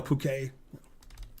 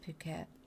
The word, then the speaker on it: Phuket: I think it's pronounced Phuket. I just say, fuck it. I think that's the way they pronounce it.